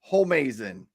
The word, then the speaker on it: Homeazin: It's pronounced Homeazin.